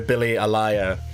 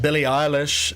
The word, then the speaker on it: Billie Eilish: You called her Billie Alaya. But Billie Eilish is what you mean to say.